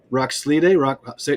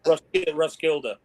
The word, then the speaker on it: Roskilde: David, pronounce that again. Roskilde. You said it better than me. Roskilde.